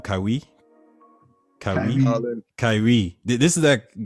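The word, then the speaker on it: Kawhi: this is the guy kywi is how you say his name kywi kywi Kyrie this is that guy Kyrie requested yeah no it's not Kyrie Kawai L sorry Kawai yeah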